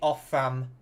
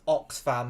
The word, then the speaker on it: Oxfam: has actually read the OFFAM. Is it? No, it's Oxfam, isn't it? Not Offam. I'm an idiot. It's Oxfam. It's the charity Oxfam. I've been pronouncing it wrong this whole time.